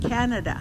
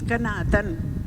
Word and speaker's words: Kanatan: Like Kanatan means, they tried to say, they ended up saying Canada. That's not the right pronunciation. It's Kanatan.